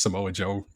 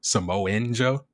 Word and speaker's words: Samoa Joe: I remember he used to also pronounce Samoa Joe name wrong. He used to call Samoa Joe Samoan Joe.